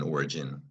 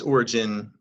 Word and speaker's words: origin: and keep going so something that remember is G followed by an i soft key G followed by an o RG now here are the syllables in origin we know that from before or gun is also a three syllable word so that's origin compared with Oregon now I'm gonna show